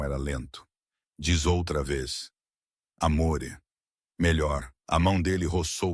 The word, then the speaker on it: amore: É amore, ele murmurava. Não amore. O é mais suave assim.